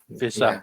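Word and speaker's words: Wissa: brenford probably I don't is it pronounced wiissa or Visa Visa yeah yeah you know who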